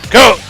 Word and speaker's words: Koch: Please welcome from Alberta, Canada, Mr. Chris Cook. I about said Coke. Said it wrong. Too. Whatever. Chris Cook.